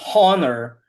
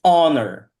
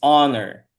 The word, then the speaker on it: honor: So, it's not honor, it's honor. The H in this word is silent, it's honor.